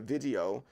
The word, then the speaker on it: VDO: I'm gonna go to the Vizio. That's what it's called. It's VDO. That's how it's spelled.